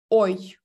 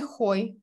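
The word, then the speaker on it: hoy: Ось у нас є момент, який називається сьогодні, і сьогодні у нас буде ой. Ніяке не хой.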